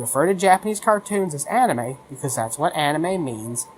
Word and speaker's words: anime: the pronunciation of anime oh it's not anime it's omni make you know I